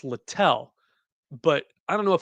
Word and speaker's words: Littell: It is spelled as if you would pronounce it little, Littell. It's Littell.